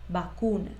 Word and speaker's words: vacuna: en estos términos vacuna vacuna se escribe con v pero su pronunciación es con b vacuna luego vas a tener